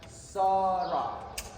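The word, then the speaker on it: Sa-Ra: Because this title, the two symbols of the duck and the sun, we pronounce them in high English as Sra, son of Ra.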